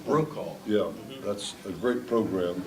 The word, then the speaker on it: Brokaw: And Tom Burkall, is that how you pronounce his name? Brokaw.